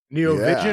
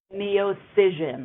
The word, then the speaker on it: Neocision: So Neocision Spectra is the Neocision. yeah. That is a mouthful. Neovision Yeah. or It is. Neovision Spectra? Neocision with a C. Neocision. Okay. Like incision, but a Correct.